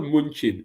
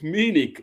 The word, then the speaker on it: Munich: It's not munchin. It's meaning they use for vom. from B A DN W how what how does that make sense? What what sort of pronunciation is that? So it's Munich if not Munchin.